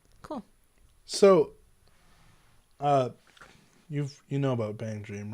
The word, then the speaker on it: BanG Dream: the casual chubster said the plan with Bang Dream, which is how you say it, right?